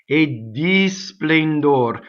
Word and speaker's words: a di splendor: A di splendor. So what happens next is you have a strong monosyllable A, there's going to be a double D. A di splendor.